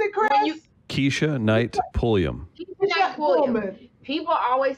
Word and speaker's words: Pulliam: Oh, I thought it was Pullman. No, it's Pulliam.